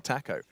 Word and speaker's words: TACO: Taco. Taco, that's how you say it. Taco. Taco. Taco. No. Tar. Like tar. Taco. Yeah, like as in T-A-R. Yeah. Taco. Taco. Well, not really an R, but yeah, go with it.